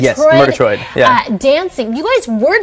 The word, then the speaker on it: Murgatroyd: Murgatroyd? Yes, Murgatroyd.